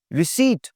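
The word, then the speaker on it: receipt: क्यू, रिसीट, पी की आवाज नहीं आएगी जी, रिसीट, रिसीट, रिसीव।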